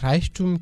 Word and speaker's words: Reichtum: Der Reichtum qui s'écrit R majuscule E I C H T U M.